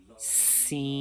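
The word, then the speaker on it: سين: Whistle sound is very important scene because whistle sound is characteristics of scene.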